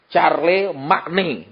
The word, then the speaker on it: Charlemagne: Tulisannya Charlemagne adalah C-H-A-R-L-E-M-A-G-N-E. Charlemagne. Bacanya Charlemagne.